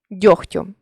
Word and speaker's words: дьогтю: чітко не оглушуємо їх але є 5 слів в українській мові у яких відбувається уподібнення за глухістю це легко вогко кігті нігті дьогтю у цих словах дзвінкий приголосний перед глухим уподібнюється до глухого запам'ятайте ці слова та